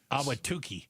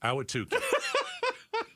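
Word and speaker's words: Awatukee: Awatuki. Awatuki.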